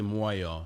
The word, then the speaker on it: Moyo: moo um because people would just like not pronounce my name properly it's actually moo so muu o i o like moo like